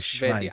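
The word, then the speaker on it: שוודיה: It's How do you say Switzerland in Hebrew? Switzerland is Schweiz. Sweden Oh, is Schwedia. Schweiz.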